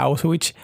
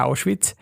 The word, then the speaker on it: Auschwitz: Yo antes le decía Auschwitz, pero cuando empecé a estudiar alemán me di cuenta que se decía Auschwitz.